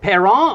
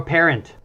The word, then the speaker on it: Parent: you go yeah it's it's usually pronounced like a mom or dad parent but I'll take what